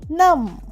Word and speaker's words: numb: লিম, N-U-M-B, নাম, এখানেও একই ব্যাপার, বিটা উচ্চারণ হচ্ছে না।